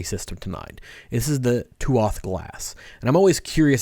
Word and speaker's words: Tuath: The Tuath, or pronounced Tua, it means people or tribe in Old Irish.